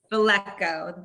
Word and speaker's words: Velecko: l teacher and is it flecco i want to say it right it's valenco velecko thank you so faleco is